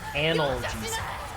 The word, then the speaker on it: analgesic: That word is pronounced analgesic.